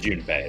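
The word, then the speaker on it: Junpei: Did they seriously pronounce his name Jumpy? That's his nickname. That's his nickname. Yeah. Yeah. She calls him Jumpy. No, they pronounce it Jun Bay. The pronunciations are accurate.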